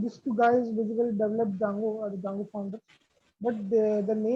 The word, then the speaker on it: Django: it's Django. So I mean, just food for thought. I mean, this is now we pronounce it D silent.